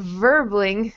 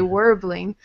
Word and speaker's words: Verbling: So, yeah, for you, I've noticed when you talk about verbling, sometimes you say warbling. So, with the V sound, get your teeth on your lip, and it's voiced.